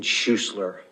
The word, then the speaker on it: Schusler: spell your last name my name is schussler it's spelled s-c-h-u-s-l-e-r thank you sir you mean choir